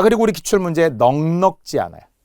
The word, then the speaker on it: 넉넉지: 자, 그리고 우리 기출 문제 넉넉지 않아요. 놀랍게도 많은 사람들이 넉넉치 않다고 해요. 살림이 넉넉치 않다. 절대 안 돼요. 넉넉지.